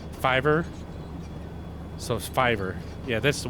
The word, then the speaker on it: Fiverr: R is it f how do you say that F it's f i v r r I think that's yeah I believe that's the website fever Fiverr so Fiverr yeah that's